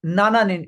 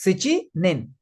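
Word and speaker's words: 七人: Be careful. It will never be na nin. It is si nin eight persons.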